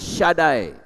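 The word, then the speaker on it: שדי: tulisannya Sin dalet Yod kalau SH dalet Yod itu bacanya syadai maha kuasa jadi ketika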